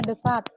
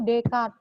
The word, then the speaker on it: Descartes: ulangi kicot hayati Tegar Descartes ceritanya bacanya dekat kalau bahasa Perancis Desi tue esnya nggak dibaca deh cartes ujungnya Kanada juga Descartes bacanya itu dekat esnya dianggap tidak ada ah idealisme itu kan